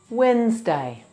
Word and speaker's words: Wednesday: Wednesday. Wednesday. Wens has 4 sounds.